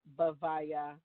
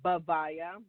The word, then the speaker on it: Bhavaya: So the mantra is Om Shadavana Bhavaya Namaha.